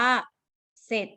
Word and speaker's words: เสร็จ: เรือ ควบ กล้ำ แต่ แต่ เรา จะ อ่าน ว่า เสร็จ นะ คะ ออก เสียง แค่ สอเสือ นะ คะ แต่ จะ ไม่ ออก เสียง ตัว รอ เรือ ถ้า เป็น ลักษณะ แบบ